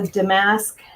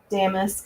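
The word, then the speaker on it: damask: Um, with there's a Damasque um pattern. Damisk, I think, is actually the proper way to pronounce it, but there's a a damisk pattern that looks really pretty on these.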